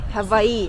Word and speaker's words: Hawaii: So, W's pronunciation like V. V. Hawaii.